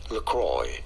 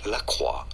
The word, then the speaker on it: LaCroix: it in the US this is said as lroy lroy from French in France it is said as laqua laqua meaning the cross